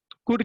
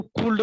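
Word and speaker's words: could: कुड के बारे में अभी देखेंगे, इसको पढ़ते हैं कुड। बहुत सारे बच्चे देखो कुल्ड पढ़ते हैं, एल इज साइलेंट देयर, वहां पर एल साइलेंट रहता है तो मिस प्रोनाउंस करते हैं।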